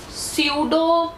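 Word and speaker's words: pseudo: सिर्फ और सिर्फ एबिलिटी है इन the amoeba सूडो पडिया सूडो means false सूडो word ride होया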